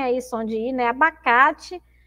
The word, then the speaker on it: abacate: exemplo na aula anterior abacate abacate Então a gente tem aí a palavra abacate que na última sílaba nesse Tim eu escrevo com é Tá mas eu leio com ih porque porque ele tem